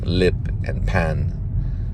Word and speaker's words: Lipan: The real Apache name is Lipan, which would probably be pronounced Lippin, but I think it would be pronounced for the film, it would be Grace Lipan, as in Lippan, lip and pan, Lipan, Grace Lipan. So almost like that Peter Pan sound in it.